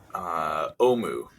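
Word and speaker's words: Ohmu: How do you pronounce, or how do you spell OHM, ohms? like a ohm, like a resistor ohm. Omu.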